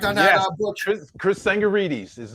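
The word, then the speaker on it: Chris Tsangarides: Chris Sangarides is how you pronounce it.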